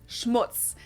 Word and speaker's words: Schmutz: on my list is Schmutz this one is pronounced and used the same way in both languages and it means dirt